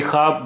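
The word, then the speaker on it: خواب: खब भी बोलते हैं यानी ख के बाद जब वाव आता है तो बहुत सारे रूफ में बहुत सारे वर्ड्स में वो वाव साइलेंट होता है इसे हम खवाब भी बोलते हैं और खब भी बोलते हैं दाल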